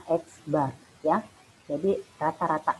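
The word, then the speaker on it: x̄: Ini bacanya X bar.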